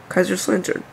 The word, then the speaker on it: Kaiserslautern: Kaiserslautern.